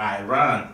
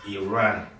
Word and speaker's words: Iran: of you who pronounce Iran as Iran you you heard the journalists say it's not Iran it's Iran respect Every Nation okay